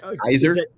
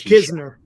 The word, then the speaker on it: Kizner: I might Kenzer Kenzer Kenzer. I don't know. We'll find out tomorrow. We'll find out. It's Kizner. Kizner.